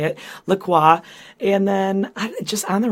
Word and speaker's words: LaCroix: by the way it's Lacroix I looked it up because it rhymes with enjoy that's on their website